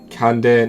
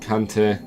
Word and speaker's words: Kande: It's Kande, not Kante.